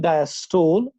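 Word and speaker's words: diastole: इसको स्टोल कहते हैं, नहीं तो एक्चुअली सिस्टली है, और डायस्टोल को हम एक्चुअली कहते हैं डायस्टली। आज के बाद अगर आपको इसको अच्छी तरह से प्रोनाउंस करना है, क्योंकि बेटा हम टीचर्स भी आमतौर इसको सिस्टोल कहते हैं, डायस्टोल कहते हैं, स्टूडेंट्स भी कहते हैं।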